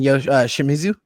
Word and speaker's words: Shimizu: And then Shimizu. Is that how you pronounce it? That's correct. Yes.